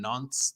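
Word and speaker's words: Nantes: freiburg and nancy's on nonce that's how you're supposed to pronounce it and group h um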